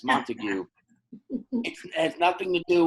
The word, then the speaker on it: Montague: It's also just like in writing how there's the Capulet and the Montague, you know? And look, I mispronounced that as well. My bad. It's Montague.